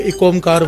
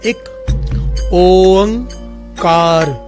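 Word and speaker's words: ਇੱਕ ਓਅੰਕਾਰ: नानक धन गुरु नानक एक ओमकार इसकी प्रोनाउंसिएशन अच्छे से समझ लीजिए बहुत सारे लोग एक ओमकार बोलते हैं। बहुत सारे लोग अलग-अलग तरह से बोलते हैं। असल में इसकी प्रोनाउंसिएशन इस प्रकार से है। एक ओमकार ये तीनों लफ्ज अलग-अलग हैं और तीनों के भाव बड़े ही गहरे हैं।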